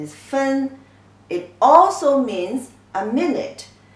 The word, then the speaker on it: 分: The pronunciation is 分.